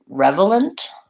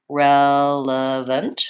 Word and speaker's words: relevant: let's break it down first syllable stress relevant short we have a vowel app like Red Tent rel and we have a schwa the UH sound and then very schwa